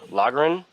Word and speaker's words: lagern: butcher the proper German pronunciation of this, but the name lager comes from the German word lagern, Lagern, Lagern.